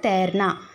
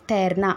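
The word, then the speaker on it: तैरना: அடிக்கிறதை ஹிந்தில தேர்னா ஓகே தை இங்க பாருங்க அது வந்து தை ஓகே பட் நம்ம பேச்சு வழக்குல எப்படி சொல்லணும் அப்படின்னா தேர்னா கொஞ்சம் அப்படி லேசா தேர்னா அப்படின்னு சொல்லணும் ஓகே தேர்னா வெட்டுவது வெட்டுறது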